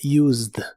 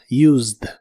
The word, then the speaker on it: used: En el pasado es used. No se pronuncia la e de esta palabra, solo la d del final. Used used.